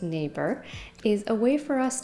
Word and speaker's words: NAEBER: great terror branch's reign neighbor pronounced neighbor is a way for